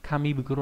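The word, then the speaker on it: 紙袋: Chúng ta có từ túi là bình thường đọc là fukuro đúng không, thì đây biến thành bukuro, kami bukuro là túi giấy.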